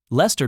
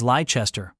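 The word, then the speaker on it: Leicester: Americans also love mispronouncing British words. Lester becomes Liechester.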